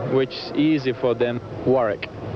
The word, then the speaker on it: Warwick: Warwick. It's not uh as Dee-on Wool-wick, it's Warwick. Without without you don't pronounce the second W.